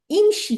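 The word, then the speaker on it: امشِ: আমরা এই আমর ইমশি, এখানে হামজাতুল ওয়াসালের নিচে জের দিতে হবে, কারণ মিম তো উচ্চারণ করতে ওই পারতেছি যে না। থার্ড লেটারের জন্য যে হ্যাঁ, আসছে তাইলে এখানে ইমশি হবে।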